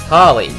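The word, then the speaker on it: Hahli: her name is that sounds like Holly spelled h o l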